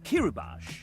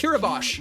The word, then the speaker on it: Kiribati: This one, Evan wrote the note Kiribati is pronounced Kiribati. Kiribati, not Bati.